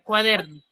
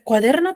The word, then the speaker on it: cuaderno: ¿Cuaderno será una palabra esdrújula? Es una palabra grave o llana. Grave. Y al ser grave, ¿la tilda o no la tilda? No lleva tilde. No lleva tilde. ¿Por qué yo no la coloco tilde? Porque termina en la... Su mayor fuerza de voz lleva en la der.